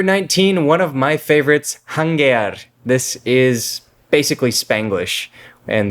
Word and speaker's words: janguear: So janguear. It's like adding a Spanish verb ending to the end of an English word. Just in this case, it's spelled with a J instead of an H. And they would say jangueal. Right. Almost always with the R to the L sound.